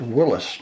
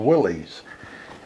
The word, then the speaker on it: Willys: Willis, because I understand the founder of the company insisted on his name being pronounced Willis, not Willys.